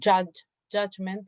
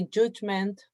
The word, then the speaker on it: judgment: pronunciation for the word judgment. The U is pronounced A, judge. But for the people in the north of England, they will pronounce this U as U. So they will say judgment, poop.